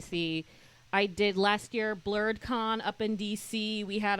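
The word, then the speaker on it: BlerdCon: BlurredCon? BlurredCon. How do you BlurredCon. spell that? BLERDC, because it's in DC. ON. BLERDC. Yeah, blurred, black nerd.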